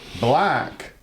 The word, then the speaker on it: Blaec: So, black, right, is a homonym. And even though it's pronounced the same, it does not mean color.